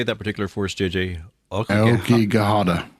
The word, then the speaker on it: Aokigahara: Aokigahara. Aokigahara. And I'm not good at pronouncing Japanese words, but I mean, my mind